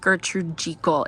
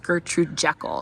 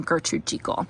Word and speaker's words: Gertrude Jekyll: to say to you all yes it is pronounced Gertrude jiko it is not pronounced Gertrude Jekyll so um I got a ton of comments about that um yes she does pronounce her name Gertrude Chico so it is a migration equal Rose is